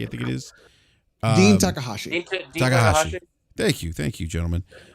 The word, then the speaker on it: Takahashi: If you guys saw this with Dean, I can't ever pronounce his last name. Dean Takashaki, I think it is. Dean Takahashi.